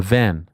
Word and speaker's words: Van: Uh, Van.